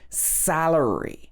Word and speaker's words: salary: So for example, this word salary, it should be stressed on the salary, salary. She earns a good salary. I know in other countries it might be like salario or something like that, where it's stress on the second part, but in English it's stress on the first part.